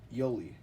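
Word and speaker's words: Uhle: probably the least um we got George Yoli and yes that is also how you pronounce his last name uh he was nicknamed the bowl he was born in 1898 and debuted in 1919.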